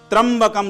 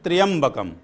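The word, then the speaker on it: त्र्यंबकम्: पर आया होती है त्रंबकम लोग बोलते हैं पर यह जो कि मंत्र है त्रियंबकम और फिर क्या बोलते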